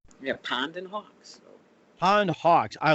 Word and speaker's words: Pondhawks: But anyway, what we did, we made it 2 words, Pondhawks, and we took the space out of the inside. So it's Pondhawks.